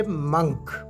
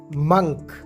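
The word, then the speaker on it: monk: अगला लफ्ज़ है मंक। मंक, क्या आप भी इसे मोंक प्रोनाउंस करते हैं? ये मोंक नहीं है, बल्कि ये मंक है।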